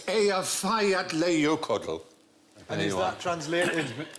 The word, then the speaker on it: Eyjafjallajökull: And I think, actually, the way you're supposed to pronounce it is... Hutch. If only. It changes it. Apparently, it's Eyjafjallajökull.